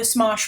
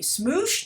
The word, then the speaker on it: Smosh: Because I looked up the Smosh movie, and I'm sure I'm mispronouncing it. I just have a feeling that it's like maybe Smoosh? No, Smosh.